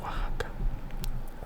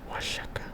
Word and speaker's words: Oaxaca: And you also have names like Oaxaca, Oaxaca, Oaxaca, which the X in Nahuatl is supposed to be pronounced like sh. So maybe it would be like Oaxaca or something like that.